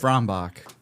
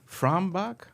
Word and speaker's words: Frombach: Frombach. Frombach?